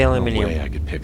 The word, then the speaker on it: aluminium: Aluminium. I know it's spelled aluminum, but as I said before, I'm Australian. We say aluminium.